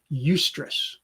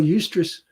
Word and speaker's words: eustress: to mention a different kind of stress called eustress that's spelled e-u-s-t-r-e-s-s this just refers to stress that